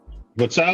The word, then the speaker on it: Vitali: Vitali. Not Vladimir. I mean the way you the way you say it is vitally but Vitali Kaliscoco.